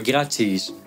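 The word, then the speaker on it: gratiis: a dans certaines lettres par exemple dans "graciis" cela vaut dans le dernier mot et je dis : "grachiis" vaut en latin ecclésiastique il y a beaucoup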